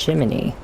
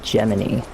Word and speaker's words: Gemini: That is Geminy. Oh, did do this? Not Jiminy, but Geminy. And not Gemini. U but Geminy is his name.